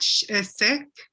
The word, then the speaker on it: Sikh: Sikh? Sikh, yeah, that's the real. Because it's written like Sheikh, but it's no, it isn't. It's, but a lot of people say Sikh, but I think they say Sikh.